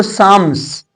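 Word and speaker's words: psalms: बाद में करेक्ट भी किए थे लेकिन इसको साम्स क्लियर है साम्स साम्स मींस होगा भजन या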